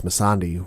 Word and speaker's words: Missandei: Well, we've been pronouncing the name wrong the entire time, so apologies. It's Missandei who's been missing.